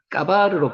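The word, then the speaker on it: גבר: 가바르 까바르로 발음이 나죠.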